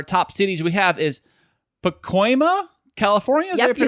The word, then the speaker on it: Pacoima: In America, our top cities we have is Pacoima, California? Is that Yep, you said it right. Pacoima.